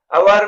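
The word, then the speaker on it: hour: अवर में S silent है और ओ वावेल साउंड, इसलिए अवर से पहले एन यूज होगा।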